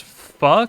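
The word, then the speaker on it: phở: Spelled pho, pronounced pho.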